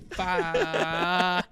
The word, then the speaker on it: pho: Oh, did And you been say corrected faux and a somebody lot. was a douche and was just like, You it's know? actually pho.